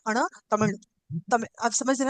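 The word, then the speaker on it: தமிழ்: अण से मिश्रित ल का उच्चारण किया जाता है। हम हम्म, केवल तमिल ना करके उसमें हल्का सा अण, तमिल, तमिल, आप समझ रहे हैं ना, तमिल।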